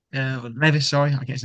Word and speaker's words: Levis: Do we think Levi, Levis, sorry, I get his name wrong all the time, Do we think he's going to be on his way?